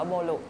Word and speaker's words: Boru: ค่ะ ค่ะ ชื่อ เล่น ชื่อ บอล ก็ อ่าน เป็น ภาษา ญี่ปุ่น อื ก็ จะ อ่าน ว่า โบรุ ค่ะ ออ ก็ เลย เอา